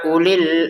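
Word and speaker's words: أولي: Wawu ini sudah tidak panjang karena ada bulatan kecilnya. Jadi cara bacanya langsung ya ulil albabi la'allakum tattaqun.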